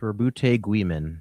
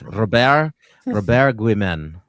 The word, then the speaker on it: Roboute Guilliman: Roboute Guilliman, actually, like the French. Robert Guilliman. Excellent. Okay. And Jordan, you want to give it a whack? I mean, exactly how I read it, Robert Guilliman.